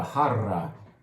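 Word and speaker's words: jarra: see most of it i think this is called a har it's fun to roll your r's it's a double r so you roll the r's a lot with that word uh it's basically a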